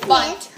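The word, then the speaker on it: Bundt: Okay, now that I'm back, we're going to be making lemon poppy seed bunny cake. Wow. Proper pronunciation is bunt.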